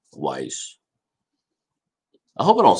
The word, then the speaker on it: Weiss: the other day on how to say lake weiss not whis but weiss so uh yeah if you're in that area i'm gonna say it correctly wise i hope i don't